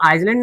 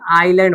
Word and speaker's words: island: For example आइसलैंड, ISLAND, तो आइसलैंड नहीं बोलेंगे, आइलैंड बोलेंगे। क्या बोलेंगे, आइलैंड।